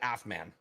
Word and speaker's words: AFMAN: And if we do, we don't pronounce each fucking letter. We actually say it like we say Humvee. Like an Air Force manual is an AFMAN.